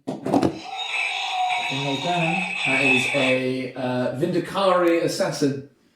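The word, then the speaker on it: Vindicare: No, because I say Vindicari because I know that's what Richie's looks like. Well, one of the Black Library audiobooks pronounces it that way.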